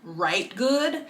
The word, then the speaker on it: Rite Gud: And the podcast is called Write Good. So like Write Good, but it's spelled Ritegud.